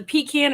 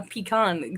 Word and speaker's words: pecan: here we go with the pecan or pk a pecan thing again how do you say it do you say either or sometimes i think it depends on what area i mean because i